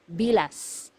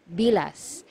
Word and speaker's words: bilas: one sister-in-law sister-in-law is bilas bilas so you have to be very careful with this one you have to pronounce the letter S at the end because if you mispronounce